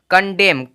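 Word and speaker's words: condemn: डी इ एम एन कंडेम कंडेम कंडेम देखेंगे यहां पे एम है उसके बाद एन है यानी कि इससे एन का कोई भी साउंड नहीं आएगा म आया है इस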